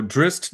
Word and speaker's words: Drizzt: So Drizzt Do'Urden, there's a T at the end.